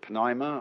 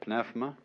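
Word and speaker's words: πνεῦμα: The Greek word, you may pronounce it pneuma or pnefma, is the same as spirit.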